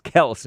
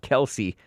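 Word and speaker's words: Kelce: request the Kel Brothers it's kelse not Kelsey but you can call him Kelsey that's what the dad turned all beta and acquiesced to that pronunciation brothers and NFL Stars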